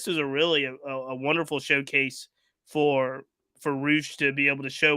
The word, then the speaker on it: Rush: So Roosh, pronounced Roosh, written Rush, is he is a Mexican star.